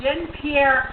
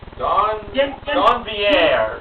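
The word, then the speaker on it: Donvier: The third prize was a Din Pierre ice cream maker, Mr. Horgan? Actually, it's pronounced Don Vier. Don Vier.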